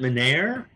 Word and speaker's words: Menare: We pronounce it Menare.